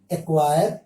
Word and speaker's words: acquire: جبکہ سی کا ایک دوسرا قاعدہ ہے کہ اگر سی کے بعد کے اور کیو میں سے کوئی ایک حرف آتا ہے, یہاں پر میں لکھ دیا ہوں, اگر سی کے بعد کے یا کیو میں سے کوئی ایک حرف ہو تو سی ہمیشہ سائلنٹ رہتا ہے. جیسے BLAC کے بلیک, بلیک مینس کالا. ACQUIRE ایکوائر, ایکوائر مینس حاصل کرنا.